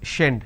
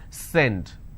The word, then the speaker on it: send: So if you make a mistake, you will end up pronouncing this as shend, shend it. It's not shend, it's send.